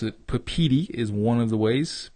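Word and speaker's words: Papeete: I had to look at a YouTube video how to pronounce it. Papiti is one of the ways. Papiti.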